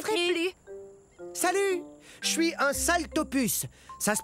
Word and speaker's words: Saltopus: désolé je neai plus salut je suis un saltopus ça se prononce sal ce qui veut dire pice sa